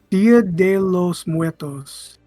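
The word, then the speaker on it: Día de los Muertos: How do you pronounce that? Oh, Dia de los Muertos. Dia de los Muertos.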